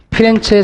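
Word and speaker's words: Firenze: 이렇게 기억하셔야 되고, 르네상스로 가면 우리가 피렌체 성당의 돔이 있어. 돔. 이때부터는 사람이 나와. 이 블루넬레스키라는 사람. 프로렌스 성당 또는 피렌체 같은 얘기야. 프로렌스는 영어식 발음이고요. 피렌체는 개들 발음이야.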